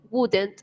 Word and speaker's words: would: la pregunta, utilizamos would, wouldn't, subject, verb, and complement, ¿ok? Recordemos que en cuanto a la pronunciación de este verbo modal, vamos a decir would. Esa L no la pronunciamos.